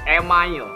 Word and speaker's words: email: Karena email dalam bahasa Indonesia dibacanya itu email.